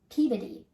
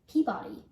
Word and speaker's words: Peabody: The name of this museum is pronounced Peabody, Essex Museum, although you may hear people outside of New England say Peabody.